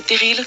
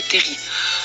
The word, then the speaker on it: terrils: En effet, ce sont non pas les terrils, comme vous le prononcez, mais les terris.